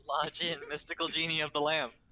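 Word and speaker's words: La Jinn: You didn't say it right. It's La Jin, mystical genie of the lamp.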